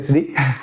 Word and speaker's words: Sri: Y hoy tenemos a Sri Batista, Sí, Sri Batista. Comúnmente pronunciado como Siri, malmente dicho, 4º grado de cinturón negro, si mal no me equivoco, y al cargo de Lotus Club en España.